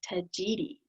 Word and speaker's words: Tagetes: for them by the scientific name, which is pronounced tagetes.